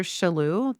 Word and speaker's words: Shalhoub: The court says, all right, it's actually Mr. Shalhoub, the way you pronounce his name.